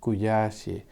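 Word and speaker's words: 悔しい: ra là hai ký tự nữa đọc "SHI", "KUYASHI".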